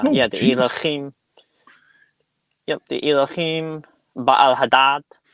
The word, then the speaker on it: Elohim: that's where they come up with words like Elohim yes yes actually very good pronunciation I speak Hebrew so that was pretty